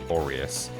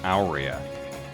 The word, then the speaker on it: Aurea: this game on YouTube also say Aurea or Aureus. But I'm pretty sure in one of the development videos, or actually even in a cutscene potentially, in this game, it's specifically pronounced Aurea, which is kind of weird.